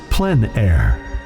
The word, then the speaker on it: plein air: open air or outdoors the French pronounced it plan air others say plein air no matter how you